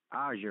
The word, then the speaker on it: Aja: And your pronunciation is Aza, right? Yep, you got that right.